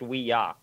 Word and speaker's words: Ouija: board so yeah my fun fact it's actually pronounced we yah yeah yeah because it's supposed to be we